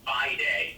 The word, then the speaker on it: Viday: Nothing really there to see yet, but it's an acronym, rhymes with Friday, and it stands for View and Improve Every Detail About Yourself.